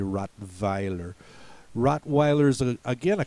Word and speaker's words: Rottweiler: called BR worst uh then we have have Rottweiler uh the Germans would say rot Vier Rottweiler is a again